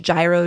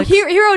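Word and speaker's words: Jiro: Did you ever watch Gyro Dreams of Sushi on Netflix? Oh, Hero Dreams of Sushi. Hero, right? that's how you say it.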